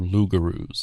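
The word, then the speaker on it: loup-garou: And in France they were called lugaroos.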